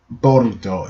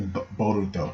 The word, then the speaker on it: Boruto: So we got Boruto, or in English Bolt, but in Japanese it's sounded out as Boruto, and it's just like, they tell you all.